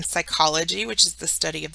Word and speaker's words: psychology: P then the n PS has a s sound like in Psychology which is the study